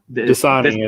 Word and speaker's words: Dasani: That's it's DSAIN. Dasani, I think is what you're saying.